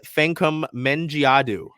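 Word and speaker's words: Fankam Mendjiadeu: Southern Florida oh don't worry we got a pronunciation guide uh Nolte fancum mengiadu say with me Dulce can come like f-a-n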